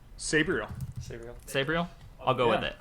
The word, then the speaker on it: Sabriel: you might have to correct me on my pronunciation sabriel yeah that's right sabriel sabriel i'll go with it i'm down with